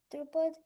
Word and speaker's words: Drupad: And then Drupad performed a massive fire and just to kill Dronacharya, and I think the Pandavas killed Drupad, or Okay, so you said it right.